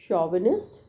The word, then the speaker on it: chauvinist: Next है शॉविनिस्ट, बहुत important word है, CH is pronounced as शॉविनिस्ट, right.